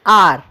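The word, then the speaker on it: hour: In R is starting with H, H-O-U-R is the spelling, but now do pronounce it with me. Everyone do say R.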